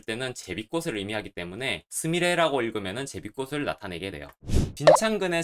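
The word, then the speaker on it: すみれ: 그리고 앞서 설명했듯이 단독으로 쓸 때는 제비꽃을 의미하기 때문에 스미레라고 읽으면 제비꽃을 나타내게 돼요.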